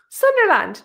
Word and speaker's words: Sunderland: L Sunderland like Disneyland.